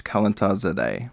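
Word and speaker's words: Kalantar-zadeh: pronounce that professor's name professor Krauss calentard zadeh z-day that's it median Iranian yeah yeah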